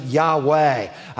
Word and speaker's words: Yahweh: divine name jehovah uh in hebrew you would pronounce it yahweh it's the god who